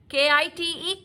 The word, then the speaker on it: kite: Is that a K-I-T-E, kite? K-I-T, kite. E is silent. Okay, this is long sound of vowel I.